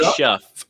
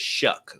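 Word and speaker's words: Shough: shut it looks like shf it looks like shff but it's shuck like shucking corn like shucking corn I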